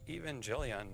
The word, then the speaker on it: Evangelion: And Evangelion means gospel. It's pronounced Evangelion, but let's go.